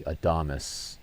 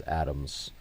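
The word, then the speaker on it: Adames: This is Willie Adamus. I've been pronouncing his name as Adams.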